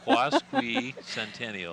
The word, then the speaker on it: Quasquicentennial: that's how you pronounce it, Quasquicentennial.